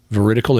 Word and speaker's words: veridical: What veridical information is, now you can hear how it sounds like the word verified.